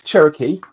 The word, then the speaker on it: Cherokee: is a very proud Cheroke uh or cherro not sure what is the correct pronunciation for that Dave so the pr pronunciation that is Cherokee Cherokee um but also